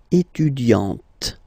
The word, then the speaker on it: étudiante: Okay, but then for the feminine form, elle est étudiante. Okay, T, T, T. Okay, you don't really insist on the E, but you insist quite much on the T.